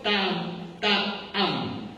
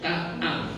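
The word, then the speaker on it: טעם: Ahora, nuestra palabra clave es gustar, porque este gustar es en el hebreo ta'am, así se pronuncia, ta'am, gustar, y quiere decir comer, discernir, percibir o evaluar.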